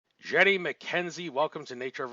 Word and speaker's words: Jeannie: Wait, can we just stop because my name is Jeannie, not Jenny? Jeannie. Thank you for the pronunciation correction. Like genie in a bottle, but it's not spelled like genie in a bottle.